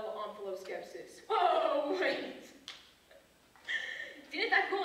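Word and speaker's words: omphaloskepsis: you got offal skepsis can't that off be pronounced um f skepsis it can that would be wrong onos skepsis o m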